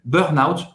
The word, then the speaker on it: burnout: a palavra igreja também Burnout como é em português a pronúncia a gente fala Burno então a gente tá